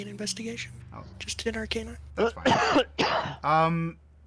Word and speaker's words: Arcana: Just in Arcana. That's fine. Roll an Arcana, or an Arcana if you prefer, if that's your pronunciation. That is the correct pronunciation.